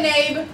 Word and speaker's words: Nabe: Oh, that's how you say it. Yeah. I could not pronounce it. You say Nabe.